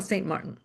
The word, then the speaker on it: Saint-Martin: But I used to, how do you say, to Spanish my name that is French, so I say Saint Martin. That's the way that I use it.